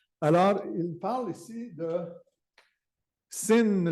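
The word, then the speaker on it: Sinn: parle ici de Sin le mot sin s i n n s i n n qui est prononcé qui s'écr avec un S une majuscule n mais qui mais que c'est comme un Z c'est un mot allemand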